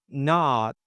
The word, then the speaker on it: not: It's usually not instead of not. We don't pop that T. It's a stop T at the end in the word not. Okay, so we don't say not, we say not.